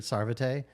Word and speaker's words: Sarvate: I'm uh SAR I need to start pronouncing my last name correctly uh sarvet and uh I'm a standup comedian wasn't a